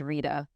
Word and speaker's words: Rita: T and we are we are straight with the T hard T you guys are like